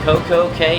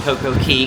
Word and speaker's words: CocoCay: Vi give me good morning from Coco K mahamad or CoCo Key the website actually says it's correctly pronounced CoCo Key kind of like half moon key or half moon K